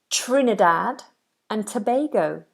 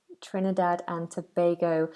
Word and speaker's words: Trinidad and Tobago: isn't it all righty so then we have Trinidad and Tobago Trinidad and Tobago I was think that's such a cool name for a country Trinidad and Tobago Trin dad and Tobago Anderson says say my name there you